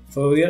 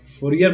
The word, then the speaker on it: Fourier: Heat है, उसके लिए फोरियर एनालिसिस बनाई गई थी। मेन आइडिया ये है इसका। फोरियर क्या, फोरियर बोलूंगा मैं, वैसे इसको फोरिया बोलते हैं। इसका जो प्रोनाउंसिएशन है फोरिया है।